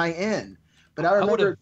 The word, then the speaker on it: Berenstain: stuff from back in the 70s and 80s, it's spelled the Berenstain Bears, and now it's called the Berenstein Bears. So it's Berenstain.